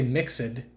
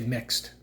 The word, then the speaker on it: mixed: a little bit different you don't say mix it you just say mixed and so again there's